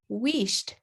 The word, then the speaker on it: Wheesht: new book is called wished as far as i understand that's how to pronounce it by kate davies she